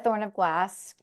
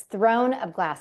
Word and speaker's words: Throne of Glass: Have you read A Thorn of Glass? It's Throne of Glass. I always say it wrong.